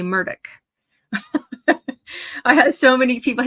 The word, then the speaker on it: Murdaugh: So if you're from the north, we all say Alex Murdaugh, but down there they say Alec Murdoch.